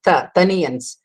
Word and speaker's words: Taniyans: We have to pronounce it as the first Ta. In Tamil, we don't have the four vargas, I mean, Ka varga, Cha varga. So it is to be pronounced as Taniyans.